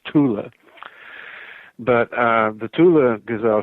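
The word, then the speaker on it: Thule: known as the Tula gazel sha it's usually mispronounced right thol it's it's not F in German it's Tula but uh the Tula gazelle sha or the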